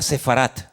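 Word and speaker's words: ספרד: Saben que España, la palabra España, el nombre, el país de España en hebreo, que está en la Biblia, se pronuncia Sefarat.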